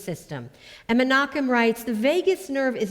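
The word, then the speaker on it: vagus: he teaches about the Vegas nerve and that's spelled v a g u s not like Las Vegas but Vegas nerve or what he calls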